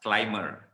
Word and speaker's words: climber: Okay, climber, salah, climber.